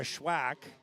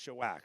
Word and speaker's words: Shawak: So it is Kara Schwack. Shawak. Yes, Shawak. There we go.